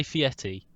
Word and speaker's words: Fieri: this is the thing if you say fiety you sound clapped but that's actually how you say it i know fieri or